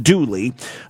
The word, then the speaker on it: Dula: Confederate veteran Tom Dula, pronounced Dooley, Foster's lover and the father of her unborn child, was convicted of her murder and hanged.